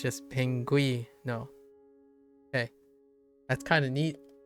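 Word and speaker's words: pingüino: Oh, pinguino.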